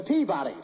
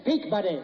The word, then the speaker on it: Peabody: You've got the wrong pronunciation. It's the Peabody. I've got the right transom. It's Peak, buddy.